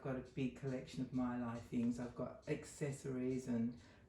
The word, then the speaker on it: Mayleg: And that baby bunny is from the, well, it's written Mayleg, but actually you pronounce it Mylai.